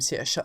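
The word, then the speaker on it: Saoirse: to know someone named siha a long time ago oh thank you darling yes because it's Irish dear it's Irish that's why it's pronounced completely differently from how it's spelled you know like shobon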